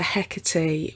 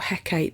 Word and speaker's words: Hecate: Macbeth also suggests that witchcraft is free to celebrate the evil that's happening, and he makes a reference to Hecate, or Hecate depending on how you pronounce it.